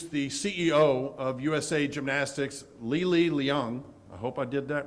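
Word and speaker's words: Li Li Leung: So Jay, you get a 10-0 for pronouncing my name correctly. So as Jay mentioned, I'm Lili Leung, President and CEO of USA Gymnastics, and on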